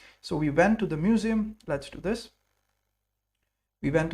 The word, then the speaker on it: Museum: So the museum is pronounced a little different and written a different little differently. In English it's eu m. In German it's u a m. So it's museum.